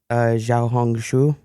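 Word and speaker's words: Xiaohongshu: you say it uh they say Z xia hong shu xia can I get a half of half of it is like you hung your shoe yeah so tell us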